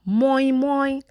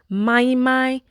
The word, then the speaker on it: moimoi: Hi, so today I'm going to be making moimoi, mai, moin, according to your pronunciation. But me, I am making moimoi today, granite oil moimoi.